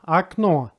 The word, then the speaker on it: окно: If the letter O is not under stress, then it's pronounced like A. Here's an example. Окно.